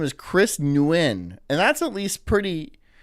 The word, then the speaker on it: Nguyen: There's a G. Most people would be like, Nguyen? No, it's Nguyen.